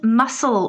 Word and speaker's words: muscle: your lower leg and muscle with a silent c muscle not muscle muscle um